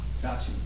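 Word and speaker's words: Sacci: Sachi, 507.5 Lorraine Avenue. I'm sorry, I didn't get the last name. Sachi, S-A-C-C-I.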